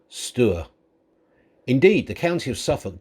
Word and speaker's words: Stour: is spelt stour we are using the local pronunciation stewart indeed the county of suffolk does have its